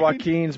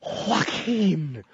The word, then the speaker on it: Joaquin: Oh, Joaquin. Anybody with a silent J in the beginning of their name is Joaquin.